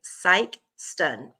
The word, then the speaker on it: Sikeston: Sikeston is a long I. Sikeston.